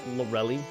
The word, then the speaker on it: Lorelei: I've always called her a mixture of both. I know it's pronounced Lorelei, at least from the anime's perspective, from what I can recall. But I've always just called her Lorelei.